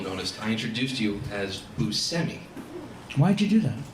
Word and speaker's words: Buscemi: of my extensive research i learned that that's how you pronounce your last name that's true even though everyone else in the entire world pronounces it bushemy yeah so it's busemi um looking oh him